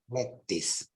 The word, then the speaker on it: lettuce: from French obviously but it's not produced lettuce or whatever it's in English both American and British English is pronounced lettuce lettis don't ask me why